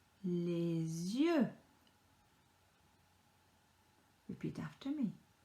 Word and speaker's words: les yeux: So E and a U together makes a sound. A sound. Just imagine that you are sticking out your tongue and then saying that you don't like something.